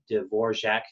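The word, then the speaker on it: Dvořák: So from left to right on the screen here, we've got Peter Tchaikovsky, Antonin Dvorak, it's not pronounced anything like it looks like, Dvorak, there's a J in there, and Sergei Rachmaninoff is the guy on the right, from left to right.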